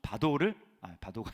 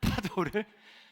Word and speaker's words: 파도: 자, 그렇다면 그 파도를 이렇게 발음이 잘 안 나오죠. 바도가 아니고 파도를 잠잠하게 이제 된 것이 우리가 어떻게 됐는지 알고 있어요, 그렇죠?